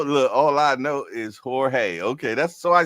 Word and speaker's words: Jorge: Oh, look, all I know is Jorge. Okay, that's so I said it correctly. Jorge. All right. All right, my guy. Yes, indeed. The J is silent. Like me. The J silent.